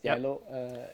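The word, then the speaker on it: Geilo: a little town up in norway uh it's pronounced yellow or yellow yellow yes yellow it is it's a lovely town meet on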